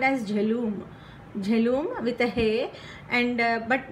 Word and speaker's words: Jhelum: And now jhelum, this is how you have to pronounce it.